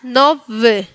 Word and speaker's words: nowy: En este caso, podemos decir que cuando la Y está en el medio de la palabra se pronuncia un poquito más como una I y cuando está al final, un poquito más como una E.